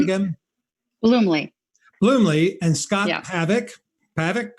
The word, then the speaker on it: Bluemle: do you say your last name again bloomley bloomley and scott havoc paddock correct gabrielle stebbins jesse